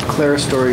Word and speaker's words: clerestory: And the clerestory, if that's the correct pronunciation. That is correct.